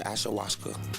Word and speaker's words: ayahuasca: Ayahuasca.